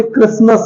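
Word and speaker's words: Christmas: एस टी एम एस क्रिस्टस क्रिस्ट समस नहीं है इसे क्रिस्मस बोलते हैं क्रिसमस देखा आपने टी का साउंड बिल्कुल भी नहीं बोला गया क्योंकि टी साइलेंट है ओके बी यू टी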